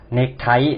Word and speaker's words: เนคไท: หนึ่ง นะ ก็ คือ เนคไท นะ ครับ ใช้ ข้อ ควาย สะกด แต่ ออก เสียง เป็น ก ไก่ ถาม ที่ 3 อะไร